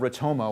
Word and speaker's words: ROTOMA: about today and so this idea of rich Homo which rhymes with Sonoma it's the return on